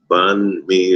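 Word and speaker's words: bánh mì: ordered something called find me what's by me bond me is spelled b-a-n-h and then the second word is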